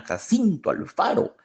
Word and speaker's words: Jacinto Alfaro: muy bien como melodía todos son todos son nombres graves con acento en la penúltima sílaba malaquías badilla Isidro Mena Jacinto Alfaro Isidro Mena Jacinto Alfaro